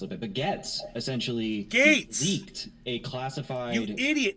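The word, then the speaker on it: Gaetz: say the word gate why do you say gets you're a my God hey man turn the TV on and listen to someone else pronounce his name it's Matt Gates you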